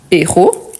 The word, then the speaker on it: héros: peut écrire ce héros car c'est un h aspiré je ne le prononce pas je dois marquer la pause et s'il s'agit du plurel je dis c'est héros par contre je ne fais pas la liaison ok donc ce héros